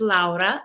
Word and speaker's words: Laura: my name is actually I pronounce it laa because I'm Lithuanian originally uh and yeah happy